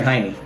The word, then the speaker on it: Jaime: Or is it Jamie or Jaime? Jamie. Okay, I never knew. I could go either way because of the way it's spelled, but...